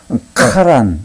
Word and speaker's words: 하란: 히브리 말로는요 조금 이게 다른 발음이 나요. 이것은 그냥 하란이라고 하면 이거는 카란.